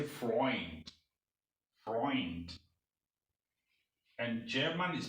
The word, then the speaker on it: Freund: white vice means white eu is not pronounced u it's pronounced oil in german example oil oil oil so eu in words like friend in english they don't say friend they say freund friend and german is